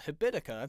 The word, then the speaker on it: Habitica: It's a habit making app that's spelled like the word habit and then ICA, Habitica.